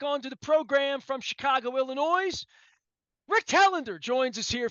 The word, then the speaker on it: Illinois: First of all, the S in Illinois is silent.